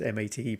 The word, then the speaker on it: MATE: So for example, if we wanted to show Ubuntu Mate, which is interesting because people think it's Ubuntu Mate because it's MATE, but apparently it's pronounced Mate, so Ubuntu Mate.